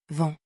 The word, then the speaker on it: vent: Le mot demandé est vent, avec les lettres en et un T final muet. On lit V, puis en qui fait en, et on ne prononce pas le T.